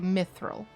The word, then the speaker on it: mithril: all fantasy genres that we just call it mithril just like no special tone or any of that like it is an established pronunciation to just say mithril uh every every single